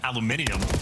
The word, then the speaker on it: aluminium: But Nam Americans say aluminum rather than aluminium just because we don't want to give him too much credit.